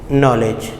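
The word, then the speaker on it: knowledge: जैसे आप देखें, नॉलेज लिखते हम के से हैं, ठीक है, लेकिन क्या है, हम बोलते क्या हैं, नॉलेज। तो इसमें क्या है, के हमारे पास क्या है, साइलेंट है, क्या है, के हमारे पास साइलेंट है।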